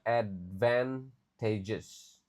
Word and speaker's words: advantages: Jadi kata ini lumayan susah juga advantages. Jadi, a-nya dibaca kayak e e jadi e. Lalu, advantages semua a dibaca e di sini advantages lalu disadvantages oke of online learning in higher.